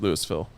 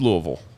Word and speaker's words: Louisville: it in Colorado yep the Colorado Louisville is pronounced Lewisville y Kentucky it's Louisville we've make that distinction